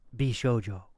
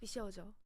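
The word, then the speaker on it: 美少女: please read that word in the official Japanese pronunciation please I believe it's bishjo but you tell me yes yes yes bishjo just say a little closer there you go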